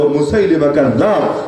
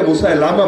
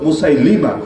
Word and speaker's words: মুসাইলিমা: ছিল যার নাম হলো মুসাইলিমা অনেকে মুসা লামা বলে শুদ্ধ উচ্চারণ মুসাইলিমা মুসাইলিমা কাজ্জাব ওই মুসাইলিমা কাজ্জাব